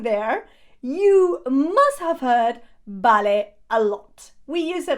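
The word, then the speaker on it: vale: you must have heard ballet a lot we use it all the time ballet notice yes it is spelled with a V but remember that these always sound as a B in Spanish okay so okay okay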